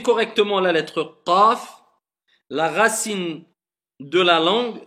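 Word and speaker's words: ق: Le fond de la langue et le fond du palais.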